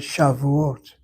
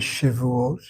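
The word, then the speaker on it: שבועות: Jews call it shàuote shàuote. They don't call it shuot.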